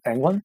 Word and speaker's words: Englund: How do you pronounce his last name? Englund.